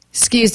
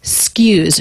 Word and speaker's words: excuse: me everyone stress on notice the word is not excuse but it's skews she turns it into one syllable this is pretty common so the letter x here represents two sounds k and s excuse but it's not uncommon to drop the first vowel and drop the k and just say skews skews s sound k